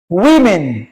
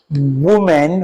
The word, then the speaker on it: women: Um we also have um woman, we have woman and pronounce this word women. All right. So this is women not woman or you know man and men.